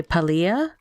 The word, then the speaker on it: Palia: So yeah, and there was one um I can't remember where she's from, but one would say Palia, which was the whole other thing with like the accent on the Lee.